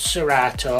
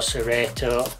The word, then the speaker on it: Serato: software there, which is called Serato or Serato, depending on where you are in the world and how that is pronounced.